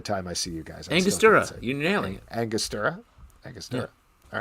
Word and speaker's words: Angostura: Angostura.